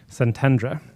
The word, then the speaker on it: Szentendre: The group of 20 gathered for 4 days in the Budapest suburb of, how do you pronounce that? Szentendre.